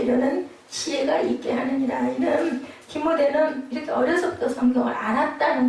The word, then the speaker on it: 디모데: 디모데는 티모티라고 원어 발음이 그렇게 되어 있습니다.